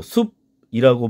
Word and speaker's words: 숲: 수 없다 이거예요 그래서 예를 들면 숲이라고 우리가 쓰면 지금 분명히 받침은 피읖이지만 우리가 발음할 때는 어떻게 발음합니까 이렇게 비읍으로 숲이라고 발음을 해야 되는 것과 마찬가지인 거죠